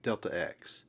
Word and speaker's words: delta: is the symbol for displacement and it is pronounced Delta if the displacement is in the vertical direction